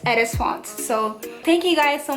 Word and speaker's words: Edesfonnt: It's pronounced Edesfonnt.